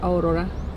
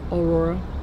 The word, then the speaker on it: Aurora: by the way guys my name is aurora aurora however you want to pronounce it and then that's wifi